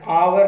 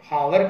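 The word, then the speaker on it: hour: आ रही है ना, आवर की आ रही है, हावर की नहीं आ रही, एच इसमें साइलेंट है।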